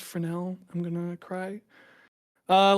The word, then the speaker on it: Fresnel: Um, so if you don't have a Fresnal node in your material editor, you can just do a dot product with the camera vector.